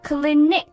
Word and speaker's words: Clinique: 牌子倩碧 Clinique C-L-I-N-I-Q-U-E Clinique。哎，其实跟这个诊所的发音差不多是吧，也许它